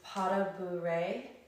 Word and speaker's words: pas de bourrée: Now one of them is pas de bourrée.